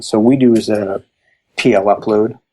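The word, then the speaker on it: Plupload: we do is a PL upload which is or PLU load I pronounce it which is an HTML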